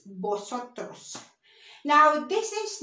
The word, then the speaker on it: vosotros: Remember, we don't pronounce V, it's vosotros.